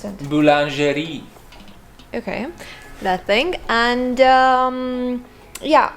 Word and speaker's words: boulangerie: How do you pronounce that? Boulangerie.